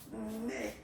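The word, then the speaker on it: mes: Okay, so for the phonetical or pronunciation aspect of it, then remember that this S here combined will give you the sound A. Okay, so you'll pronounce it like me, me, me.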